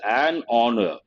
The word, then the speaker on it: honor: it is not horor H is silent based on that we say it is an honor not a honor an